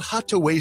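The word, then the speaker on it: Hatuey: It's called Hataway Cigars. It's that little red place right there at 16th and V Streets. It's spelled h a t u y.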